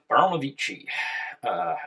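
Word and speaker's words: Baranovichi: Baronovici is the correct pronunciation.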